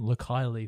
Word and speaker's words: Leikeli: to pronounce the name look highly for something think like kylie minogue look highly oh that's